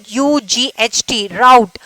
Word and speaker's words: wrought: Route. That W is the silent. Okay. W is the silent. You have to pronounce route.